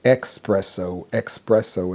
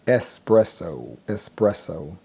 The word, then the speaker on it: espresso: But a lot of times people will say expresso, and that's not correct. The correct word to use is espresso.